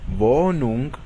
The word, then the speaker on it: Wohnung: La H después de una vocal, cuando se encuentra en medio de una palabra, no se pronuncia y causa que la vocal anterior se alargue. Por ejemplo, Wohnung, que significa departamento, o sehen, que significa ver.